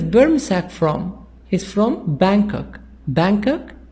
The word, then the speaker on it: Bangkok: Bangkok, G is silent.